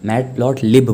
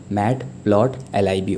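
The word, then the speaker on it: Matplotlib: काफ़ी बच्चे इसे मैटप्लॉटलिब बोल देते हैं, बट मैटप्लॉटलिब नहीं बोला जाता, इसका प्रोनाउंसिएशन मैटप्लॉटलिब होता है।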